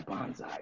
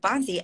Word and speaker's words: Banzai: and so yeah yeah Bonsai is is the most fun I I apologize I think I pronounced your character's name wrong pre previously but but Bonzi and all the you're